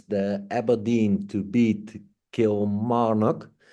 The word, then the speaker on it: Kilmarnock: It's the Aberdeen to beat Kilmarnock. I really find it hard to pronounce it correctly. Correct me if I'm wrong. Kilmarnock. That's correct.